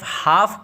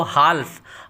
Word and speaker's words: half: हो सकता है कि आप HALF हाफ को हाल्फ और HONOUR ऑनर को हॉनर पढ़ते हो, जो बिल्कुल गलत है और सुनने में भी बहुत बुरा मालूम होता है।